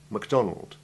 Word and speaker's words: MacDonald: Generally, as you have just heard, the prefix is unstressed and has the short A2 Ivy sound, except where the English have imposed their own pronunciation on the Macintosh and its inventor's name.